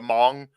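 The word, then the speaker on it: Hmong: I'm gonna mispronounce this the Hong Hong you don't say the H the Mong have have kind of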